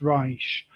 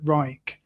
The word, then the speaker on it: Reich: you pronounce it in the German way it's Reich but the the English tend to pronounce it Reich.